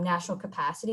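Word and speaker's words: National CAPACD: so uh the organization it actually stands for coalition of asian pacific american community development and so through my work with national capacity is how we pronounce it um there's a lot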